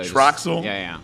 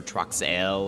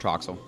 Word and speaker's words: Troxell: do apologize for that it's like most people pronounce it like they TRW or you know TRX or trox l or something like that I'm like no just Troxel just Troxel just Troxel all right